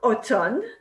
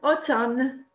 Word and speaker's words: automne: En automne, il y a du vent. En automne, il y a du vent. Did you remember to pronounce the letter N and not the letter M? En automne, il y a du vent.